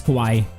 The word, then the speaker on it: kawaii: It's kawaii.